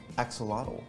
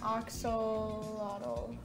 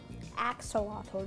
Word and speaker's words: axolotl: i know that is a axolotl is that how you say it yes you get a marble